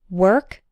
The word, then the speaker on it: work: word rhymes with bird work rhymes with perk and worst rhymes with